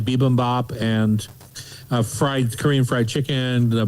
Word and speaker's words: bibimbap: bibimbap. She was saying, like a P bibimbap. instead of a B.